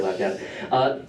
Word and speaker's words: LabCab: That's how you say it for short, LabCab.